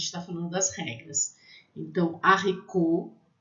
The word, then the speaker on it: haricot: Então, lê haricot, haricot, feijão. Esse T é mudo no final, tá?